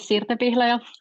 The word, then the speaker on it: Sirte Pihlaja: So my name is Sirte Pihlaja, for those who want to know how to pronounce it.